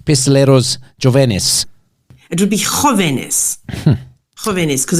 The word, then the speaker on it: jóvenes: It would be Jóvenes. Jóvenes, because it's Jesus. When it's a J, it's pronounced with an H.